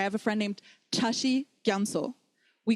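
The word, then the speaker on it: རྒྱ་མཚོ: Gyamso. Gyamso is actually spelled gya and so. But we pronounce it gyamso or gyamso.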